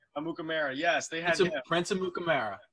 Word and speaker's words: Amukamara: Prince Amukar. Am I saying it right? Amukamara, yes.